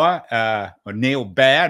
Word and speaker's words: Baer: guest today uh Neil bow uh or Neil be not bow it sounds like bow B- a r but pronounced be is a trained doctor